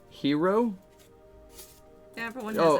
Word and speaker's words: gyro: potato chips yeah weird we say gyro differently here oh oh cell says it like here oh oh how do you say it Lily that's the Greek way of saying it Lily yeah oh